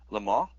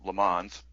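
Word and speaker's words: Le Mans: right my uh final movie is it's called lar or as as dumb Americans pronounce it lemons um and the star Steve McQueen and it's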